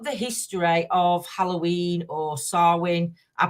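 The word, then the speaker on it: Samhain: you look up the history of Halloween or sarwin I pronounced it now I remembered it um if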